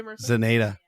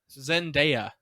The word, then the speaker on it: Zendaya: but you know what how do you say zaneta zendaya oh zendaya yeah i thought she did a